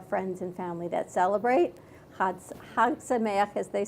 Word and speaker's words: Chag Sameach: Chag Sameach.